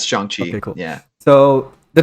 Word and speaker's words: Shang-Chi: pronounce it yet. So, Yeah, it's Shang-Chi.